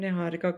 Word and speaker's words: Niharika: So I'm Niharikaa. I know that's not very easy for everyone to pronounce. So it's just Niharika.